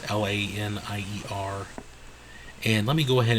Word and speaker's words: Lanier: And I'm not even sure if I'm pronouncing that right. It's Lanier.